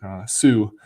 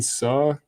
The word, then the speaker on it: Suh: I'm so used to saying Sue, like the former Nebraska player, Ndamukong Suh, but Justin Suh, I believe, is his pronunciation.